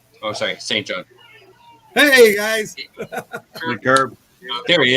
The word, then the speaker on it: Saint John: Yeah, Curbs in Saint Jean. Oh, sorry, Saint John.